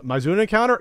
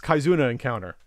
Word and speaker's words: Kizuna Encounter: 93 or so uh Mauna encounter kizuna encounter and see I'm not a Neo Geo expert I said it wrong it's kizuna encounter yeah so these are